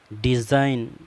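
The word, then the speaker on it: design: का फायदा यह है अगर जी के बाद pain हो तो फिर जी हमेशा साइलेंट रहता है में चार मिसाइलें आपके सामने हैं मैं नेट माना मच्छर डिजाइन माना नक्शा बनाना साइन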